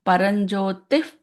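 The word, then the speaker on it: परंज्योतिः: So if the following letter is a P, what did we say it is going to be? P sound. P. So I will pronounce it as Paranjyotif, Parandhama, Paramanu, Parapara. The P sound should come.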